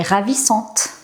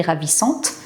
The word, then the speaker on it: ravissante: Cette ville est ravissante. Encore une fois, je prononce le T au féminin. Cette ville est ravissante.